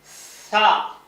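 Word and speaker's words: ث: எழுதணும்னு பாருங்க உச்சரிப்பையும் பாருங்க சா நுனி நாக்கு மேல்பண்ல தொடரணும். சா வாய் பாருங்க சா சா இதான் அந்த சா நாலாவது எழுத்து.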